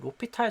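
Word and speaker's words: L'Hôpital: 그 다음에 이제 로피탈 정리인데 전 처음에 이거를 로피탈을 알고 있음에도 엘 호스피탈이라고 읽긴 했어요. 로피탈 정리죠.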